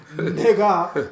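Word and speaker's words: נגע: I hope the ignorant people out there thinking I said N-I-G-G-A. The word in Hebrew is nega, which is spelled nun gimel ayin, for those ignorant people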